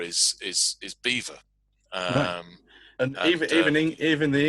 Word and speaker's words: Belvoir: idea that what's written um toe sester is pronounced toaster or what looks like it's what looks like it's it's um belvoir is is is beaver um and evening even the english have differences